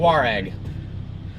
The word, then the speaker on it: Touareg: I drive the Touareg. Yeah. Touareg. There you go. Two distinct syllables. Touareg.